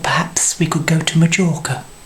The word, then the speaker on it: Mallorca: Well, I thought perhaps we could go to Majorca. It's Mallorca, not Majorca. You pronounce the J with a Y.